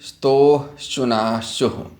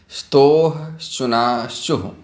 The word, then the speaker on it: स्तोः श्चुनाश्चुः: सूत्र है इसके लिए स्तोः श्चुनाश्चुः। एक बार और ध्यान से सुने, स्तोः श्चुनाश्चुः। इसके उच्चारण पर आप विशेष ध्यान दीजिएगा।